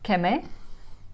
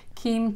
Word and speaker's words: Kemê: no we're visiting today K is that how you pronounce it yes K yes but I'm used to be Kim Kem k k anything goes is that an artist